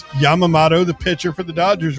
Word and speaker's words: Yamamoto: It's Yamamato, the pitcher for the Dodgers related to Admiral Yamamato. I say again. How do you say that? What? Yamamoto. I I don't think you can do that, Barrett.